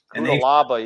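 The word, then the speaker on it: Cuțelaba: Kudalaba, that's how you pronounce it.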